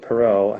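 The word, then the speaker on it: Perrault: here's an interesting fact I know that perau had to have a native land of France because it ends in a t but you don't pronounce it many words in French that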